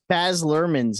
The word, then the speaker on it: Baz Luhrmann: Baz Luhrmann's Elvis.